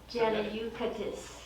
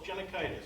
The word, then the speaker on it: Genikaitis: Janayukatis. Close, Genikaitis. So Okay. if you phonetically spell it. Like it's- meningitis, so it's like It's- it.